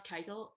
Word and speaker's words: Keuchel: But a guy like Dallas Keuchel, I just can't, maybe I'm saying his last name wrong, but nope, you're not.